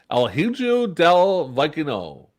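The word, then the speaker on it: El Hijo del Vikingo: holy i actually could probably pronounce this um hmm is it bandito el hujuu del vaikuno oh okay actually i said it right now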